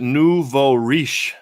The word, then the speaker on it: nouveau riche: much tracy very much ronald says you pronounce it nouveau riche means new money french amigo i did